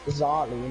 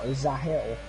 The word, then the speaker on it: Zali: It's Zali, not Zahil, as we've been saying. He's just put it into the Twitch chat and said, just a little tip, it's Zar L-I, not Zar L-I-L, but just a little tip.